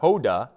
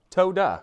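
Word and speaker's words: תודה: like this as well so it's not Hoda but it's toda which means thank you because the tough in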